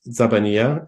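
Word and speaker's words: زبانية: So this word is pronounced Zabaniya, and nobody knows what it means.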